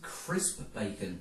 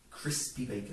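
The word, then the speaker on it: Chris P. Bacon: I believe it's pronounced crisp bacon no no no you are mistaken I'm mistaken crispy bacon crispy bacon crispy bacon a bit like the meat but of course here's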